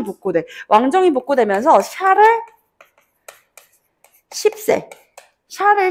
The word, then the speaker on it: 샤를: 샤를 10세. 발음 세게 하면 안 된다.